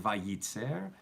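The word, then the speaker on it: וייצר: It still sounds like vayitzer.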